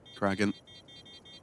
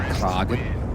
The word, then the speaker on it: Kraken: An attempt, though, from Kraken. Some couple of good shots. But it's Waro. Do you believe you'll find it's pronounced Kragen? Kragen. Made that sound Swedish, didn't I?